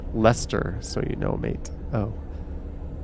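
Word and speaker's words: Leicester: i have no idea it's pronounced lester so you know mate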